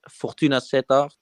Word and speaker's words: Fortuna Sittard: club is pronounced Fortuna Sittard.